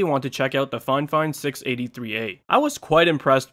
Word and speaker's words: Fifine: a look at the fine fine k683a and that's how the manufacturer actually told me to pronounce their brand name not fifine but fine fine anyways we'll do a